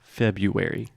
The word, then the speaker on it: February: word because there are there's that R right after Feb but we do not pronounce that so we do not